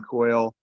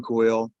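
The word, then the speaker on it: Cuylle: kid they got that i think you could pronounce his last name coyle it's william coyle c-u-y-l-l-e by all's accounts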